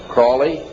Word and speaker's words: Crowley: an avowal of Aleister Crowley he likes the penis had his name pronounced Crowley to rhyme with holy and the Satanist today